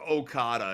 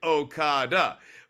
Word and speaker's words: Okada: to a crescendo for okada and it's like okada okada but like even the back and back punch uh having the emphasis on the last syllable there just I mean